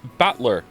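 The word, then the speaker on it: Battler: the characters for fight and person and it's pronounced batler put it all together and you've got usara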